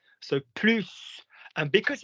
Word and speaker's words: plus: Do you see how the pronunciation of the plus and the plus makes the difference?